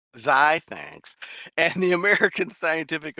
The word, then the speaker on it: Xi: He's a fellow of the American Physical Society and a member of Sigma, oh God, how do you pronounce Sigma? Sign. Xi, thanks, and the American Scientific Affiliation.